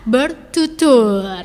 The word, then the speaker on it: Bertutur: Ini tentang bintan bertutur ya. Bertutur ini beneran tur ya bacanya. Yes. Bintutur dengan to UR belakang.